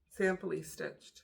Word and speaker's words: Samply Stitched: like I said, simply samply stitched. I thought it was simply I've been saying it wrong all this time. Samply stitched.